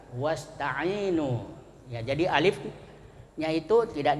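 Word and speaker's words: واستعينوا: Ista'inu kalau dia berada di awal kata hamzah di bawah alif itu bacanya ista'inu, ada hamzahnya. Tapi kalau ada huruf sebelumnya maka hamzahnya hilang, tidak dibaca, ya. Tapi kalau tidak ada wawunya dibaca ista'inu. Nah, itu kalau ada wawu sebelumnya wasta'inu.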